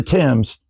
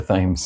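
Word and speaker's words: Thames: Is that the Tims? It is. A lot of people from Georgia call it the thes. It's the way it's spelled near the themes. The themes. I know that has to hurt you. It's the Tims.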